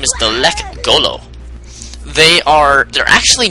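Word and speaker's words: Lekgolo: And it's not how you pronounce it. I think how you actually pronounce it is Lek Golo. But I just say Lek Golo so you guys kind of get to have the pronunciation of it.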